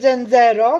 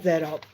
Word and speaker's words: zenzero: uczy włoskiego dzero dzero Nie mówi się dzero tak z akcentem polskim tylko się mówi dzero Jak wygląda dzero czyli